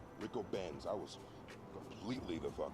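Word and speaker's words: Ricobene's: Apparently the name of the restaurant is pronounced Rico Ben's. Rico Ben's.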